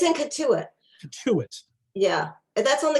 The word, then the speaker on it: Cotuit: I'm not even sure if I'm pronouncing the museum correct. I recommend the Cotuit. It's in Cotuit.